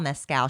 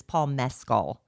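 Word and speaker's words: Mescal: Paul Emma Kelly says, "We've been saying his name wrong. It's I've been saying Pedro Pascal and Paul Mscal." She said, "It's Paul Meascll."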